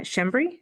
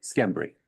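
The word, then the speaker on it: Schembri: uh Shimry. Skimry.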